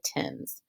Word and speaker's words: Thames: passage it gives you the pronunciation they actually pronounce it the Thames so we are looking for two and we